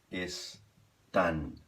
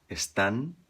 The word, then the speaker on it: están: Em espanhol, acaba com AN. Están. Ou cantam, que acaba com M em português. Em espanhol, vai acabar com N. Cantan. E a pronúncia aqui no final seria... Acaba com a língua no céu da boca, bem pertinho dos dentes de cima ali, tá bom?